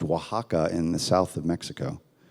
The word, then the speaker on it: Oaxaca: we kind of randomly chose this town um pronounced Oaxaca in the south of Mexico and I thought